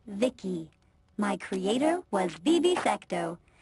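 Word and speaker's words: VICI: to by the way I'm v-i-c-i pronounced Vicky my Creator was Bibi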